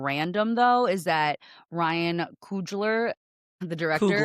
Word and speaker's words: Coogler: Something that I think is just so funny and random though is that Ryan Coogler, the director Coogler. It's pronounced Coogler.